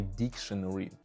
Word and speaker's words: dictionary: official words in a dictionary. In the dictionary. The word is not pronounced dictionary. It's dictionary.